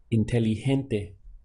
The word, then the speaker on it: inteligente: The word for intelligent is inteligente. This GE, normally we might say like gente in English, again takes a H sound. So it's gente.